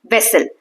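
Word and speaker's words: vessel: तो इसमें जो वी ए है यहां देखो। वी ए वे सल इसमें ए टू सिलेबल है एक दो ठीक है व जो है इसको वैन जैसे बोलते हैं वैन तो व का जो साउंड है वैसा बोलना है जैसे वैन में व है वैसे ही वेसल में व है तो वर्ड वेसल राइ्स विद एप्पल जैसे एप्पल होता है वैसे वेसल होता है ठीक है इसके साथ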